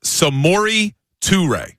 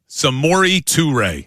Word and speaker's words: Samori Toure: Yes, I'm looking at his the pronunciation. It's Samori Toure. Samori Toure.